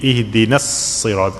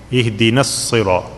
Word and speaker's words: اهدنا الصراط: Okay, na here you see with the alif, that alif is silent. Okay, you have to connect the noon with sad, so it's going to be ihdina as-sirat. I consider there is no alif. Ihdina as-sirat.